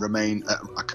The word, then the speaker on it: Romain: just david a and romain it's spelled or arrow m-a-i-n i think it's roma i think it's their version of norman jerome he's the only